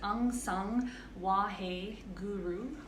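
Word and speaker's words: Ang Sang Wahe Guru: that we're using it's it's pronounced unsung whoa hey guru um sounds wha-hey guru and you can sing along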